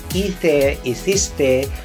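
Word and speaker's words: hice: totally different ather is ise so this is silent age guys so take note of that we don't we do not say he say he says it's silent h okay just like okay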